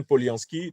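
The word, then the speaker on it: Polyansky: un discours extrêmement important devant, oui, c'est bien Poliansky, Dimitri Poliansky, a prononcé un discours très important donc devant le Conseil de sécurité des Nations Unies.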